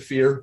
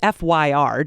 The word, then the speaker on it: Fyr: really intricate and um is it fire forest of fire is that how that's pronounced i don't know there's no voice acting i've always said fear but okay yeah i wasn't sure it's fyr just for those listening